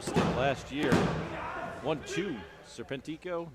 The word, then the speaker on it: Serpentico: my high school spanish if a word ends in a vowel n or s you stress the next to last syllable if a word